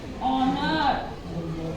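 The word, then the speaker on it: honour: आर इसको हम बोलेंगे ऑनर यहां पर भी हमारा एच क्या है साइलेंट है ठीक है तो कुछ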